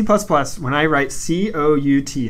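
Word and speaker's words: cout: So on that, when in C++, when I write C-O-U-T, how do you say that? C-out. Okay, that's how I say it as well. But some people say count. Those people, I know people who say count.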